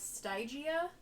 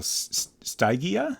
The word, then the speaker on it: Stygia: The Y is pronounced like an I, so Stygia?